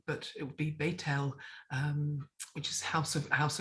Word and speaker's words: Bethel: they'll talk about bethlehem we talk about bethel house of god but it would be betel which is house of